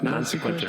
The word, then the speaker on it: non sequitur: It's called Tim Hamilton's non-sequitur moment or minute. Because this movie's so boring. I like that you can't even get your own sections. All right. It's called non-sequitur moment. It's pronounced non sequitur.